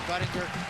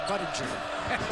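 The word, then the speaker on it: Budinger: A lot of people talk about how do you pronounce his name? Is it Buddinger or is it hard G? Hardg is right.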